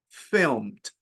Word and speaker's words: filmed: But over here, filmed, not filmed, filmed, no E.